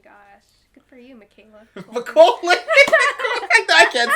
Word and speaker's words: Macaulay: I only watched the one with Michaela. How do you say his name again? Macaulay.